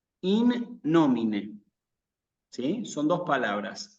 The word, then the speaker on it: in nomine: Se tiene que escuchar con claridad que la palabra termina con una E. In nomine, ¿sí? Son dos palabras. In nomine, ¿sí?